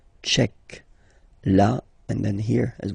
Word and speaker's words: tchèque: So remember, QUE, k, tchèque.